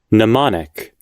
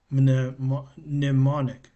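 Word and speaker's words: mnemonic: Nemonic. Nemonic. Nemonic. The M is silent.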